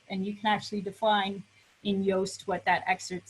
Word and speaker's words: Yoast: So this is Yoast, is a commonly used WordPress plugin for SEO. Rhymes with toast.